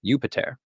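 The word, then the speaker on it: Iuppiter: let's take Jupiter first in Latin his name would have been pronounced something like yupiter this itself could be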